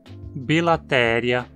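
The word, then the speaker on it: Bilateria: Praticamente sempre que você encontrar um nome terminado em ia, você vai pronunciar como uma proparoxítona, porque esse ia é sempre curto e vai estar na penúltima sílaba. Então o mesmo se aplica aos nomes spiralia, cnidária, bilatéria, ambulacrária, deuterostômia, protostômia.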